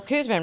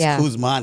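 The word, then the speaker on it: Kuzma: for for the Wizards there's no n on the end of his name I wrote it down right I said it wrong I apologize guys she can't talk today remember it's K man because he's the man yeah the man that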